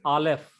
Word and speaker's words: Aleph: This is Aleph. It is silent letter. It is like a apostrophe.